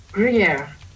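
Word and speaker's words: Gruyère: Gruyere.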